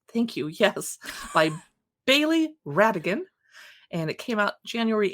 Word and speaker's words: Rhatigan: By Bailey Radigan. And it came out January 18. Radigan is spelled Rhatigan.